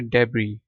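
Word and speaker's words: debris: इन genuine ठीक है और इसको पढ़ना है डेबरी मलबा मैल कुचल अच्छा इमारत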